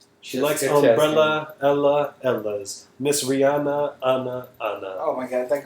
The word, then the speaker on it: Rihanna: The H is silent. Rihanna.